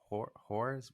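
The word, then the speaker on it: Hoare: creator of it uh Grayden Horrors pronounced horror um but he was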